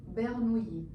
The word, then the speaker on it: Bernoulli: Se pronuncia Bernoulli.